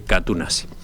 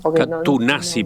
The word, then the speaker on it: Katoen Natie: Catunasi parece que es la forma de pronunciarlo.